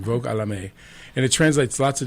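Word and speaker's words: Vague à l'âme: Vogue à la May, I think is the French pronunciation. Vogue à la May, and it translates lots of different ways.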